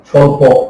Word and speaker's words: স্বল্প: কিন্তু বফলার কোনো উচ্চারণ নেই, যেমন যেমন যেমন যেমন স্বাধীন, স্বল্প ইত্যাদি। কিন্তু আছে একটা, এই কিন্তুটাই জরুরি, এই কিন্তুটাই কি জরুরি। এই কিন্তুটা হলো, আবার বলি, বফলার কোনো উচ্চারণ নেই, যেমন স্বাধীন, স্বল্প ইত্যাদি।